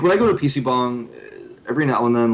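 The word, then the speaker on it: PC방: I would say um so I'm saying that wrong it's PC bong not PC Bang Yeah it's PC bong I mean if you want to pronounce it in like the Korean pronunciation yeah gotcha so uh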